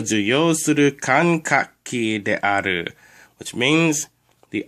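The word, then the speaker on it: 感覚器: The first symbol is pronounced kan. The second symbol is pronounced kak. And the third symbol is pronounced ki. If you put it together, it becomes kankaki, which means sensory organ.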